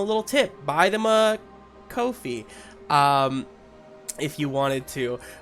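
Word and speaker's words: Ko-fi: uh ko dash fi it's not coffee like i thought it was but it's kofi rhymes with no fee and uh kofi is a great way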